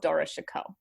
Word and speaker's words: Dara Shikoh: And I think that is because of Dara Shikoh, right? His brother. His brother? Okay, yeah. Right, the That's how you eldest, pronounce it.